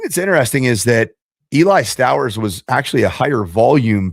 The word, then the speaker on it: Stowers: I got to learn the pronunciation. It's Stowers, not Stowers.